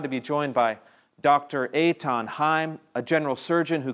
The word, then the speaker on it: Eithan: Yeah, well, my name is Eitan Haim, and even though it's spelled Ethan, it's pronounced Eitan.